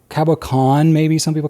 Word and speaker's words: cabochon: Those were not Pro Gears, so they didn't have any cabochons in the finial.